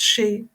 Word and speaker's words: Sidhe: It is spelled Sidhe but pronounced she.